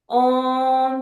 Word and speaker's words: ओम: Just माँ ओम का हम बता सकते हैं, आ ऊ और माँ की ध्वनि के साथ हम ओम का उच्चारण करेंगे।